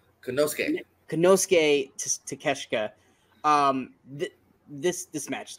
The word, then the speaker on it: Konosuke: I always say his first name wrong. Konosuke.